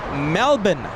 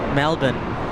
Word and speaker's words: Melbourne: ready an Australian viewer she told me it's Melbourne that's the pr the correct way to pronounce that City Melbourne Melbourne what about Brisbane Brisbane she said that same